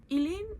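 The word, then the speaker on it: Aoileann: The main character, her name is Elen. It's spelled um the Irish way. So, a O L E E A N. Elaine, she stays with her mother and her grandmother.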